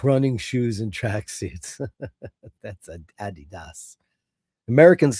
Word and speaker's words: Adidas: you get programmed to say Adidas, but the guy's name literally was Adidas and his brother left uh Adidas and created uh Puma because they got into a big fight. I don't know why Americans say Adidas.